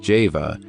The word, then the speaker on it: Jehovah: by the letter jod whence Jehovah should be pronounced Java and this point leads